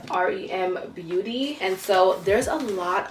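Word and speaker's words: r.e.m. beauty: talk about ariana grande's new line this is pronounced rem beauty and so there's a lot of makeup in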